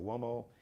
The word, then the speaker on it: Uomo: Bruce Gage is on Instagram, Miglio, D, Mario Uomo, MIGILIO, DIMARIO, UOMO, it's Italian name. MIGILIO, DIMARIO, like Mario, UOMO is Uomo, Mario Uomo, it's Italian, but spelled like you.